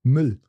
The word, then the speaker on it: Müll: Yeah, another example would be also Müll.